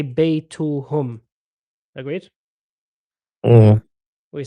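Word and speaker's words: بَيْتُهُمْ: But if we sort of say their house, we say baytuhum. Agreed? Yeah. Mm. We say baytuhum. We pronounce it hum.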